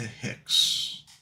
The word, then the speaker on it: Hicks: And misses outside, 3-0 to Hicks. Hicks rhymes with dicks.